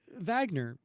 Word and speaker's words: Wagner: Hey, Richard Wagner, does your name begin with a V? Get it? 9W, like 9W, because it's pronounced Wagner, but it's W-A, kill him.